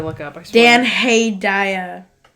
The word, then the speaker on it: Hedaya: Dan Hedaya. Spell it. Hedaya.